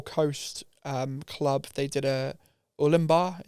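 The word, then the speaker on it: Ourimbah: They did a Ulimbar. Is that how you say it? Ulimbar. Ulimbar, yeah. Yeah.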